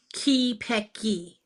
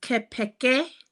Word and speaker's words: Kelpecky: Think of it as Kipeki. Kelpecky. Okay. So the original enunciation is Kepeke. I changed it because I'm very American and we change things.